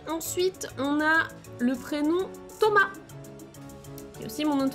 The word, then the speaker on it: Thomas: Donc en français, on ne prononce pas le S.